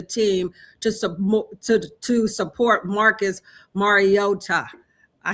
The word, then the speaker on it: Mariota: practice with the team to to support Marcus Mariota. I said that right because I was saying his last name wrong.